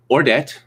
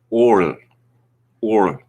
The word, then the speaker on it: Ordet: complete mystery to me i've been calling the movie we're going to talk about today ordet but the danes i find out pronounce it or or like that so no i'm not